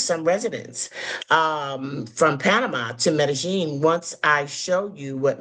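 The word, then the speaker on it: Medellín: I said, Medellin.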